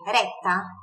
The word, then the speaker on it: retta: E com cinco ou seis rete, reta em italiano é retta. Dois T's, daquele meio segundinho a mais ali na pronúncia do T, retta, ok? É reforçado, né? Visto que é duplo, é assim que funciona a consoante dupla no italiano.